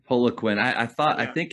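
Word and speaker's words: Poliquin: how do you say his last name it's Paula Queen I I thought I think in the uh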